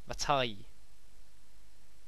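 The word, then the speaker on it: Vaati: Vatai. How it's pronounced.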